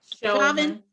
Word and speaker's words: Chauvin: Chauvin.